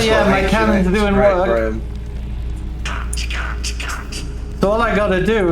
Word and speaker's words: Graham: Graham, not Graham. Some people say gram in the US for some reason, and it's like, no, gram is like a measurement of weight, I guess. Gram is G-R-A-M.